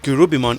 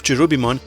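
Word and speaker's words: Kerubimon: thunders to the enemy if you are wondering why i keep saying kurubimon instead of chirubimon here's why if you have seen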